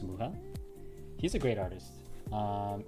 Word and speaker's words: Mucha: called uh you spelled you spell it like mucha like in Spanish like mucha m u c h a think it's alones alones muha.